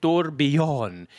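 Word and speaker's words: Tourbillon: We're talking about Bugatti and uh the I actually got the pronunciation Torbjon. You got to put the YH on there, right? Like the yaw like the yawing and the yawning.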